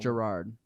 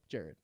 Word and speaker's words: Jared: Gerard. Nope, Jared. It's spelled Jared.